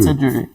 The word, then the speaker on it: Peter Drury: it sounds like Peter Is it Peter Drury? Yeah. How do you pronounce it? Peter Drury? Peter Drury.